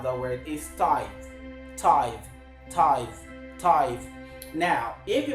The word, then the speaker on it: tithe: want to show you the right way to pronounce the word t i t h e tithe tithe now that word which is of course